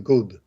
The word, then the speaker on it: gourde: It looks like it's pronounced the goud.